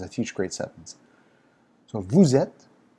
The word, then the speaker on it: vous êtes: So vous êtes. Here you'll have the liaison, S to E, vowel sound, vous êtes, but this is silent.